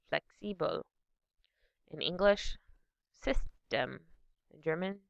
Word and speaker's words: flexibel: In English, flexible. In German, flexibel.